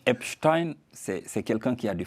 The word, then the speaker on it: Epstein: Ah, c'est sûr que, Epstein, moi j'avais la prononciation à l'allemande, donc Epstein, c'est quelqu'un qui a du flair.